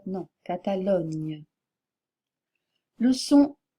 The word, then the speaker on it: Catalogne: que la graphie n y du catalan ne prononcez pas espagnol mais espagnol ou Catalogne non Catalogne le son G F J ou j faites